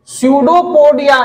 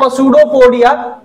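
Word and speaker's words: pseudopodia: स्यूडोपोडिया। इट इज नॉट पसूडोपोडिया, पी he silent है।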